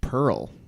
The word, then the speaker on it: Perl: To I'll say Pearl is wrong. To my knowledge, Pearl is Sapphire and Amber are not the names of programming languages. Pearl is, however, it is a homophone. I believe it's spelled P-E-R-L, but yeah, I'll give it to you.